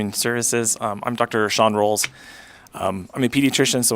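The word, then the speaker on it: Rowls: Sean Rolls. Um I'm a pediatrician, so when I tell kids how to say my name, I say it's like cinnamon rolls, but it's just spelled R O W L-S.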